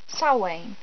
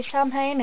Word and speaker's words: Samhain: It is spelt Samhain. It's pronounced Samhain, which is very confusing when you're reading it. But it's meant to be Samhain, not Samhain.